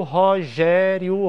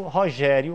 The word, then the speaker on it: Rogério: Eu posso dizer: eu conheço Rogério Robalinho. Mas eu não posso começar o decassílabo com o nome Rogério, Porque a sílaba tônica de Rogério é a segunda e eu preciso que seja a terceira.